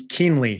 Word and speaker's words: Kuehnle: we were talking about how to pronounce your last name it's kinley keemley uh for those that